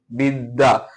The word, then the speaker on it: বিদ্যা: যে বর্ণ সাথে থাকবে সেই বর্ণটা কি? দুইবার উচ্চারণ হবে। বিদ্যা। দেখ এর সাথে আছে মানে কি? দ কিন্তু দুইবার উচ্চারণ হচ্ছে বিদ্যা।